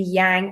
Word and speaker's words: yang: then the masculine on the right side, the yang or some pronounce it yong side.